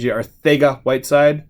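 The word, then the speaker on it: Arcega-Whiteside: Some other cards we have in our store right now: Noah Fant number 25, JJ Arthega Whiteside.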